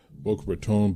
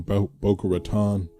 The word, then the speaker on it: Boca Raton: Boca Raton, Boca Raton. I've heard it pronounced both ways.